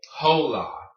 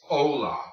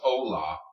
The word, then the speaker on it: hola: I have students all the time telling me tola you know to say hello it's hola all right your age even if it's at